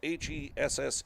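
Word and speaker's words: Hesse: hes Hess is spelled h e SS E A lot of times it's pronounced hessie but they pronounce it Hess and here's the 01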